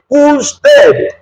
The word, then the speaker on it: usted: Remember the pronunciation, not usted. No, it's usted.